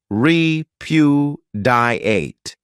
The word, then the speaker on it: repudiate: great verb is repudiate this verb has four syllables and the stress is on that second syllable re Pew diate this means to reject